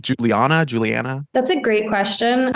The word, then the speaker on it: Julianna: Julianna? That's a great question. I say Juliana, but my mom who named me says Juliana.